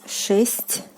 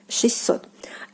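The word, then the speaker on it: шестьсот: So basically the t sound is like omitted here, and you like pronounce it like with two s.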